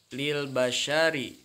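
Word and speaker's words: لِلْبَشَرِ: contoh yang di atas Lil basyari tulisannya tapi nanti karena diwaqofkan ada tanda waqaf nya dibaca menjadi Lil Basyar Oke kita baca teman-teman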